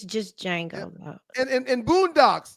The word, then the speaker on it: Django: right yes it's just Jango though and and and Boondocks oh the D is silent UNC Ruckus Uncle Ruckus